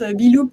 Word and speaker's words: Beloop: Alors, on prononce Beloop parce que c'est un peu être dans la boucle, mais au problème.